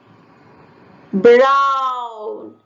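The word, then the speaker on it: braun: Brown. The pronunciation is similar to the English language.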